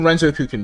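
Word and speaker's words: Renzokuken: let's figure out how to pronounce this and pronounce it correctly. Renzo Cukin. Renzouken. We're just in Renzoken mode all the time.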